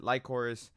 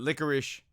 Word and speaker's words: Lycoris: I mean, that you could pronounce it Lycoris. You can pronounce it licorice, whatever.